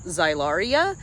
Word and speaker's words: Xylaria: name for this is xylaria Magnolia so it's x y l a r i a in case you're interested so it's one of those X's that's a z uh phonetically but this is a